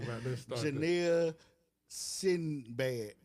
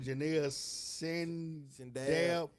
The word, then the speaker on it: Janelle Sindab: Janelle Sinbad. Janelle No, it's Janelle. It's what Janelle Sindab. Sindab. Janelle Sindab.